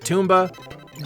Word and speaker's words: Tomba: He pronounces it Toomba, but for me it's always going to be Tomba, specifically because of the Italian Olympian skier Alberto Tomba.